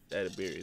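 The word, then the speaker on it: Edebiri: Edabiri? Edabiri, there you go.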